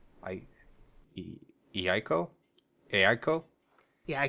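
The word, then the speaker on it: Eiko: he I co a ICO yeah ICO because you'd pronounced both of the vowels so it'd be like hey ICO yeah when you're first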